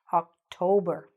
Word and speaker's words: October: The stress again in the middle. October.